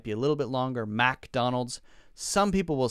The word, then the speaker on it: McDonald's: this one right McDonald's McDonald's McDonald's Mik Mik we don't say mac usually some people might say a little bit longer that that part of it might be a little bit longer McDonald's some people will say